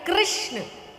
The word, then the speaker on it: कृष्ण: का नाम रखा गया कृष्ण कृष्ण कहने में जीव घूमती है बोलो घूमी जिसकी नहीं घूमी गलत बोल रहा है हां सही उच्चारण करोगे तो घूमेगी मतलब उच्चारण सही नहीं है आपको भी आवाज आ